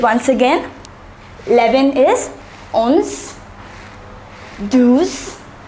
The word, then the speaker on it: douze: 11 is onze, douze, treize, quatorze and quinze.